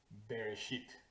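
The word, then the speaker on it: בראשית: Esa primera palabra en hebreo se pronuncia más o menos Bereshit.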